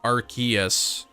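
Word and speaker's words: Arceus: know at least um archus is is official pronunciation the way it said pronunciation was changed cuz I think originally it was arus officially and then they changed it to archus Gizzy Nation then it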